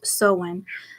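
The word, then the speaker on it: Samhain: time of the happiest night pronounced soen they belied that there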